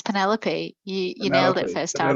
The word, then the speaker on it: Penelope: It's Penelope.